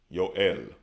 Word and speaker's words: Yoel: We have Joel, which we pronounce Yahweh Allah. Yahweh Allah, but they pronounce Yoel.